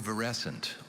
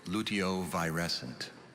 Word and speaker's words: luteovirescent: your word is luteo luteovarescent also luteovirescent luteovarescent can i have